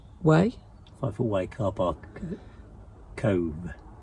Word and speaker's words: Cobh: life will wake up Cove yeah it's Cove we've been calling it Cobb I just went to listen to Stu say c-o-b-h yeah so apparently it's called Cove I've listened to three